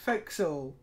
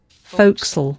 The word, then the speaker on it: forecastle: Okay, and here it comes again, forecastle. Can you hear it? Foc'sle. Foc'sle. Foc'sle. Try it.